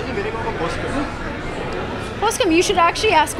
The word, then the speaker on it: Poskem: Well, it's Poskem, but Poske is the pronunciation.